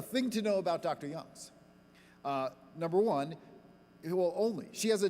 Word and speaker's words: Youngs: And her last name is Youngs, not Young.